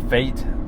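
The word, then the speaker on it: FAIT: what is it called fate it's spelled some flexible average uh inflation targeting or something like that spelled weird fa AIT t i f AI T yeah fate but not spelled like regular fate uh basically like I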